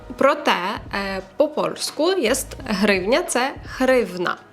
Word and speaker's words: гривня: поляків повеселитися з друзями Попросіть поляків вимовити букву г і сказати слово гривня в них не вийде тому що звуку гивних немає І він дуже складний для польської мови тому вони називають гривню гривна пшик хрень НАТО офіціальна